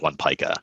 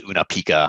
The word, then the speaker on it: One Pica: Everyone would spell it wrong, or say it wrong. It was Una Pica. I'm like, we're not Pikachu. Like, come on. Like, that's just not the way it is.